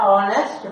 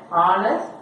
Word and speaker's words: honest: He is a honest man. Netla H vandu silent. H is silent.